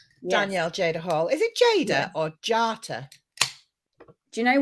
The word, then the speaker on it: Jata: Is it Jada or Jata? Do you know what? It's actually Jata. Because it's an Albanian spelling, yeah.